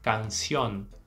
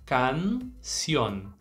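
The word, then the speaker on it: cañón: aconteceu com as demais a gente não vai poder fechar essa vogal a gente tem que manter ela aberta nesse caso a gente vai dizer canion canion Repete comigo canion legal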